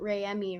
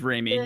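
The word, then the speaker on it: Reimi: In this part, like we learn about Ray-Emi, right? Like in the first. Raimi? Yeah, did I say it wrong? You said Ray-Emi. Who's Raimi? It's okay. Am I stupid? It's Raimi. Yeah.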